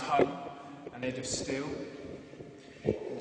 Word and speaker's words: hang: The instrument I play is called the hang. It's actually pronounced hung and made of steel.